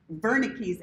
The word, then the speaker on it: Wernicke: This area right here is called Wernicke's area, which is apparently how you pronounce it in German. Somebody corrected me last time. But I'm a redneck, so you know I'm going to pronounce it Wernicke's. Wernicke's.